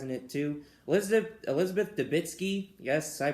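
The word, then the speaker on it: Debicki: her husband dies in it too elizabeth elizabeth dabitsky yes i pronounced her name correctly yes the actress i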